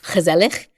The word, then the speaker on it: gezellig: And I think there's a really nice Dutch word, which I might butcher the pronunciation of, but it's gezellig.